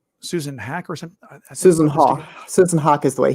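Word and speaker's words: Haack: Susan Hawk. Susan Hawk is the way he pronounced it.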